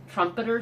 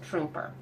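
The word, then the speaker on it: Truemper: also one other thing my husband kept calling it trumpeter Street but I believe it's pronounced trooper just so you know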